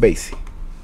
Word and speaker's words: Basie: count basin count basis did I say Bassey I think I said Buzzy but counting Basie hey I said it right Count Basie my first time uh